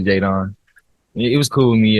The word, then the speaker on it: Jaedon: It's pronounced Jaden, but it's three teammates named Jaden on my team last year, so that's why it got changed to Jadon.